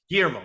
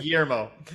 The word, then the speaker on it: Guillermo: Guillermo, or Guillermo del I think there Toro. might be a roll in the R, but I'm not good at that. Yeah, Guillermo. we'll stick with Guillermo.